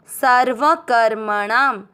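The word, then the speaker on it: सर्वकर्मणाम्: क अक्षर पूरा क में मिक्स करते हुए म के ऊपर जो छोटी जो आधा र है उसको क के साथ पढ़ेंगे कर। म में मिक्स करेंगे कर्म। णा के साथ आधा णाम कर्मणाम सर्वकर्मणाम।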